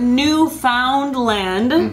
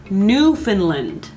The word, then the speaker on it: Newfoundland: precedes it is newfoundland all right so not newfoundland that's a common mistake common mistake if you're just reading it off the paper but it is new finland right all right there's another city that is